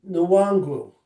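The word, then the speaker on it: Nwangwu: was, Wangu, Wangu. It's Kimi Nwangu.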